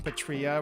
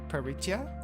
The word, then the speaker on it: Peritia: I like how you pronounce her name Patria rather than Peritia. Oh, is that actually her name?